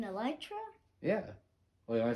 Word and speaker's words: Elytra: and stuff like that the uh Electra makes you fly the wings you mean elytra yeah wait am I